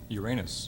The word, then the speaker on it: Uranus: Uranus. Uranus is the right answer, and you blocked, Tim. He said it wrong. Okay. You were confused between Uranus and Orion there, Les.